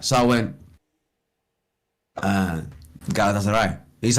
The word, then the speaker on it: Galatasaray: So I went, Galatasaray.